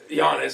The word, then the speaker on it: Giannis: I don't see him as It's a soft G. Giannis.